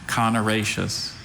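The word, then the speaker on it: connaraceous: Are there any alternate pronunciations? Just the one, conoraceous.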